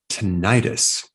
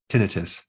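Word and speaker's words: tinnitus: technique on how to stop tentis or you can pronounce it tinius now this technique was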